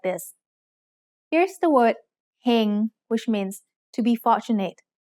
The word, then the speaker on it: เฮง: Here's the word เฮง which means to be fortunate. Do you know the tone? เฮง has a low-class consonant with a live syllable ending, so it's mid-tone.